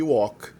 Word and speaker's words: walk: E outras 2 palavras têm o L na ortografia, mas não tem na pronúncia, que são talk e walk.